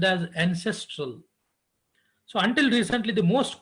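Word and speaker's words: NCSTRL: So one of the examples of a virtual library is that Networked Computer Science Technical Reports Library, so which is pronounced as ancestral.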